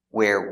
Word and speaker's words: where: Where were, link the words, link the sounds. Where were, where were. Remember the pronunciation? Where is open, where, and were is closed, were.